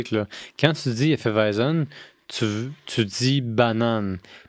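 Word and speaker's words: Weizen: les Allemands la five c'est W mais la langage allemand je pense qu'on prononce comme un V donc weisen donc la weisen veut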